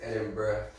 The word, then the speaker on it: Edinburgh: We had Jacob sent us a enunciation, like how to pronounce everything. Yeah. Last weekend, and it's Edinburgh.